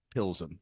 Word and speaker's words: Pilsen: I had to remind myself how to say Pilsen, because it's spelled PLZ, but you pronounce it beautifully there, just like the guy on Google.